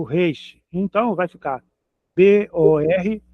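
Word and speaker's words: בּוֹר: Então vai ficar B O R bor, outra palavra na frequente na Bíblia, bor, sepultura.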